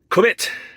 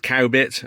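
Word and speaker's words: Cowbit: we're going first so I am in quit which is in Lincolnshire it's definitely not pronounced cow bit and I do wonder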